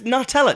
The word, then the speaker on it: Nutella: think of new metal you Rave but it's Nutella nuts hazelnut Hazel Nutella so Hazel n we